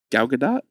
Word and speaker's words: Gal Gadot: Gal Gadot? Gal Gadot? Gal Gadot? I don't think you pronounce the T.